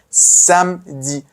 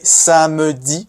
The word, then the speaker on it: samedi: Samedi. Don't say samedi, no. Say samedi.